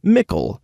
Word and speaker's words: Mickle: of the other kids called him Mickle, pronounced like pickle.